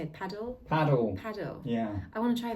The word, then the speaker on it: padel: Paddle.